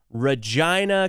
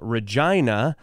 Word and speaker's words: Regina: and that is this city which is called Regina Canada it's the capital city of Saskatchewan is